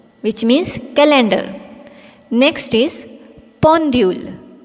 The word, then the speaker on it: pendule: Next is pendule. P E N D U L E. Pendule, which means clock. When you pronounce EN with the prefix consonant P, the